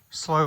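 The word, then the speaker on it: slough: slow as in s l o u g h.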